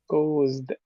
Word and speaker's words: caused: Caused. So it's three sounds. It's ko. There's a little kiss in the middle. Ko. Caused.